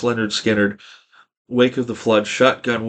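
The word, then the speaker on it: Lynyrd Skynyrd: dooll babies overnight sensation pronounced Leonard skinnard wake of the flood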